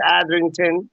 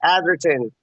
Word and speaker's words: Atherton: got word tom thomas atherington atherton that's how you say it charlie you know